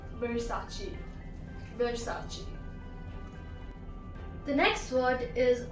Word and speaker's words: Versace: Next one is from Italy and it is pronounced as Versace. Versace. Now I've heard many people say it as Versace, so it's not Versace, it's Versace.